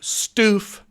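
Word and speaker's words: Stuef: York Magazine article, they're reflecting on where Jack Stoof found it. I was notified that is how you pronounce his last name.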